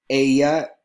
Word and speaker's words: ella: You want to do an Argentinian accent where they pronounce ella, ella, with a little sh on the double L.